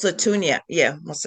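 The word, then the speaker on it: Mosi-oa-Tunya: Is that how you pronounce it? Musatunia, yeah, Yes, Musatunia.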